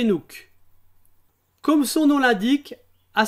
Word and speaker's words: CNOOC: dans le secteur pétrolier elle est plus connue sous le sigle CNOOC que je prononcerai par la suite c'est nuque comme son nom l'indique